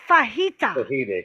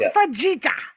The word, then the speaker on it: fajita: now than silent either it's Spanish to Dave make an egg sound like Jose right it's fajita not Vegeta fucking what up gestapo